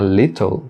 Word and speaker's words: little: Na palavra little, também os dois T's são pronunciados com o som do R fraco, né? Mas falar little também está correto, mas